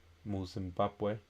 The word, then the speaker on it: Zimbabwe: For example, in the word Zimbabwe, in Zimbabwe the stress falls on the ba, Zimbabwe.